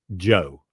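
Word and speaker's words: Djo: that I really love his name is Joe and it's spelled DJ just like d Jango it's spelled Joe his real name is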